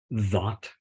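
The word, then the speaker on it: Dhat: And so in that encounter, there is this profound figure ground shift. So God, Allah, Hu, That, D-H-A-T, it's pronounced That or That, actually. So kind of a flat A in proper Arabic.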